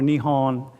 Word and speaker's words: Nihon: So Nippon or Nihon is how you say Japan in Japanese, okay?